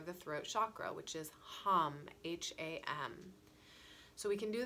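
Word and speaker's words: हं: And then from here, in order to open our throat chakras, we're going to sound the seed syllable for the throat chakra, which is ham, H-A-M.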